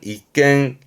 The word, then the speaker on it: 一軒: 전차의 공격을 방패로 막듯 비바람 막아주는 집을 말하는데 이 집헌자는 주로 쓰게 되는 게 일헌이라고 발음은 이깽 그럽니다. 음은 깽이에요. 이깽.